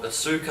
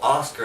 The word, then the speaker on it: Asuka: had the debut of Asuka or ask her as they like to call her I'll let you do